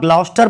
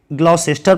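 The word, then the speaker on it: Gloucester: अल आप ग्लाउस्टर पढ़िएगा या ग्लाउसेस्टर पढ़िए। ठीक है, इनके दोनों ही प्रोनाउंसिएशन है, ग्लाउस्टर और ग्लाउसेस्टर।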